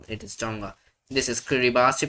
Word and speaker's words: Kiribati: This is Kiribati. Pronounce it Kiribati, but you write Kiribati.